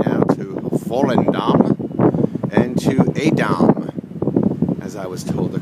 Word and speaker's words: Edam: And so we bid adieu to Amsterdam as we're setting sail right now to Volendam and to Edam, as I was told the correct pronunciation yesterday was by one of my Dutch comrades aboard.